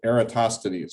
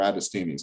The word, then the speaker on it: Eratosthenes: So to show you an example of what that actually looks like, there's this tool called the Sieve of Eratosthenes or Eratosthenes, depending on how you say it.